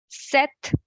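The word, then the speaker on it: sept: the qua sang sis set this p is silent and set okay with so H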